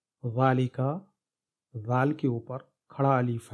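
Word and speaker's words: ذٰلِكَ: بعد الف ہے، ذالک، تو تلفظ میں ذال کے بعد الف ہے، لیکن رسم الخط ایسے ہی ہے۔ ذالک کا رسم الخط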